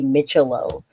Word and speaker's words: Micciolo: and I want to make sure I say mitello it's Corey mitello yesterday I had it wrong and I even heard